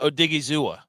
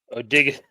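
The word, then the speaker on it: Odighizuwa: Osa Odigizua. Nice try. Wrong. What? Say it then. Osa Odigu. You have to inflict on the A at the end.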